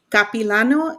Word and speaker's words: Capilano: with a ba in motion picture production from capilano is that how do you say it university yes it okay uh we were like i don't know if it's capilano she co-founded the production company lucha gore productions